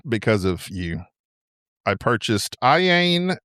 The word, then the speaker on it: Iain: I purchased Iain How do you say his name? It's Iain. I know it looks weird with the two eyes, but it's just Iain Banks.